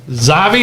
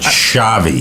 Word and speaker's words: Xavi: in class most burgers eaten ugliest feet also zavi is that how you pronounce his name i told i texted you how to pronounce it shavi shavi yeah shavi i don't always read what